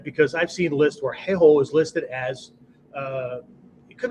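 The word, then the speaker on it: 兵法: In Bushido, the word is heiho, right? Don't mispronounce that, okay? Heiho, H-E-I-H-O, okay?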